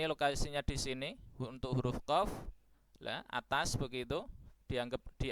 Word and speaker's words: qaf: Mohon maaf ucapan salah ya, contoh salah jangan ditiru, yaitu qaf, qo, qo, qo, qu, qu, qu, qi, qi, qi. Lah itu ucapan pelafalan yang kurang tepat. Ya. Nah, yang tepat insyaallah adalah qaf ya. Qo, qo, qo, qu, qu, qi, qi. Begitu kurang lebih untuk catatan huruf qaf.